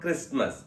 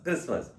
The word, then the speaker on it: Christmas: It's not Christmas, Christmas.